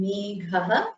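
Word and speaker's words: मेघः: Now, for Shekharaha and Meghaha, you have to use the Mahaprana Kha and Gha. Can you pronounce that one more time? Shekharaha. Shekharaha, Meghaha. With the breath coming out of your mouth.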